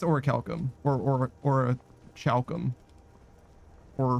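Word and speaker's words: orichalcum: It's definitely pronounced with like what Chef said, but habits die hard.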